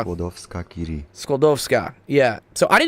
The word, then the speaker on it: Skłodowska-Curie: I can't pronounce this. Oh wait, this part. Here we go. Maria Skłodowska-Curie. Skoldowska. Skłodowska-Curie.